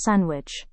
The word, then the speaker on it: sandwich: In this word, also D is silent, as it is pronounced as sandwich.